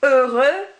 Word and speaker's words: heureux: Rather than an X or X or anything like that, you do not pronounce that X at all. So it would be heureux, cheveux, and yeux.